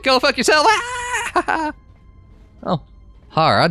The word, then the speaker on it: Hara: Hara, not Hera.